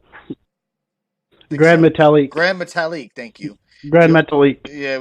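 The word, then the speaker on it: Gran Metalik: Grand Metalik.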